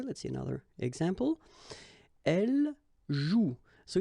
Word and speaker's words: joue: And it's exactly the same rule, so you've got this after, but then clearly you don't pronounce it, okay? Elle joue.